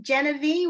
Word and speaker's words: Geneve: How about Geneve? Oh, hi. My name is unpronounceable, so that's cool. Am I pronouncing it wrong? Everybody does. It's Geneve, which makes no sense phonetically. Every E is different, so that's if you get it wrong, that's cool.